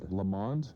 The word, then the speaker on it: Lamond: you say it l lamond yes I've been giving her a new name every week lamond L Lund Lon so it's lamon which reminds me what